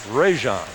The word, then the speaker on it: Rajon: And we meet the walk-on, Eric Allen, out of Alabama, and on the pronunciation there, it is Rajon.